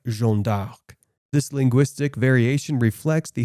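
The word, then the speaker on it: Jeanne d'Arc: her anglicised name but in French she would likely have been referred to as jeon de or jeon dark this linguistic variation reflects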